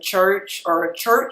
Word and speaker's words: Chvrches: The Church is the name of the group, but it's spelled CHVRCH So I don't know. I think it's spelled a little bit different, but I believe it's pronounced church.